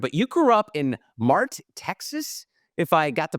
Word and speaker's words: Mart: love Manhattan apartment but you grew up in Mart Texas if I got the pronunciation correct you got it right I'm impressed